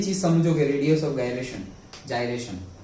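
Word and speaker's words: gyration: अभी गायरेशन बोला जाता है मेरे से, क्यों? क्योंकि पहले में गायरेशन बोला था, फिर पता चला कि जाइरेशन बोला। ओके, दोनों प्रोनाउंसिएशन है एक्चुअली तो, ओके, बट मेजरली अभी जो चल रहा है दैट इज द जाइरेशन।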